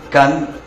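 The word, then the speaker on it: kan: imagen texto serpiente emplumada que se pronuncia can en maya yucateco peninsular el serpiente y común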